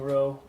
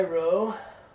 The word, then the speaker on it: rho: But you're going to get that confused with rho all the time. You're going to be pronouncing rho like a P for a while, and you just got to get through that.